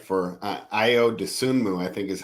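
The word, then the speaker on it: Ayo Dosunmu: For Io Dosunmu, I think is how you pronounce his name properly.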